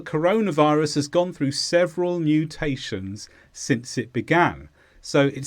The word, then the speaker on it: mutation: this is a noun the stress is on tay mutation and this describes a change